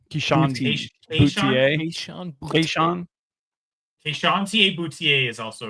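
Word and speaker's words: Boutte: Keyshawn Boutier.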